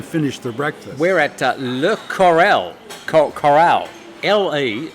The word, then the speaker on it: Le Corral: The word for coral in French simply coral, and you put the accent on the last syllable to give it a But you got to go, Le Corral, Le wow, and have a cigarette hanging on your mouth.